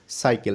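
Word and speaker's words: cycle: এন T send C ওয়াই সি এল ই সাইকেল সুপ্রিয় শিক্ষার্থীবৃন্দ তোমরা দেখতে পাচ্ছ এখানে কিন্তু সি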